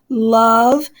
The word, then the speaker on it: love: In the original pronunciation, they very likely did rhyme. The O sound there was probably an a schwa sound, an love, and remove was probably pronounced remove. So love and remove would have rhymed.